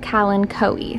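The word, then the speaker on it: Kalanchoe: and pink color combo turns out you pronounce it calen coe so helen coe now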